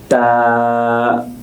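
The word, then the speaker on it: ت: জিহ্বার সামনের অংশ উপরের দাঁতের গোড়ার সাথে মিশে উচ্চারণ হবে।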